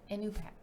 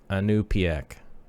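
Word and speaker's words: Iñupiaq: Inupiaq.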